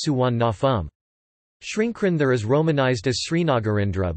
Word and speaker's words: Suvarnabhumi: For example, Sernphumi is romanized as Suwanapum, but pronounced Suwannafum.